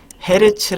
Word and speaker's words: 헤르츠: 취 보시 4 hg 자 h 지낸 헤르츠 라고 읽으시면 되요 헤르츠 라고 읽으시면 되고 때문에 이 헤르츠 뭐냐면 1초에